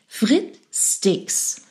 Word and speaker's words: Frit-Sticks: This is, well, we pronounce it German, so Frittsticks.